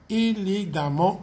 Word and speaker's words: élégamment: Ici aussi, le NT va être enlevé à l'adjectif pour être remplacé par M-M-E-N-T et le AM se prononce A, élégamment, tout comme dans méchant qui devient méchamment.